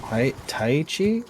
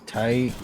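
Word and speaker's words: Tyche: Is it Taichi? Tike. Tike? Yes. Yeah. It is a her. It's a she. No, I know. It's a she. Yeah, it's I mean from Tike.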